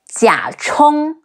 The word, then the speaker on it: Jia Chong: Some other notable characters, Xin Xian Ying, Xi Yin Xin, C-E-N, Xian Ying, Xin Xian Ying, Jia Chong, G-E-R, Jia, Chi Ong, Chong, Jia Chong, Zhuge